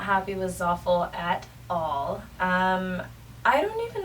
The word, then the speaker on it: Zaful: So if you guys are looking to shop from Zoffel, as I like to call it, I'm pretty sure it's pronounced Zafel, but I'm going to rhyme it with awful because it sucks.